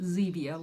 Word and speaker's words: Zevia: and I guess it's pronounced Zevia like Stevia but Zevia tea organic tea and